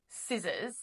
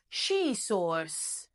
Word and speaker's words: scissors: has seen the word scissors in English which is spelled like this by the way. It's spelled scissors. Scissors. The C is silent. Now, because he's Italian, he reads it as she source.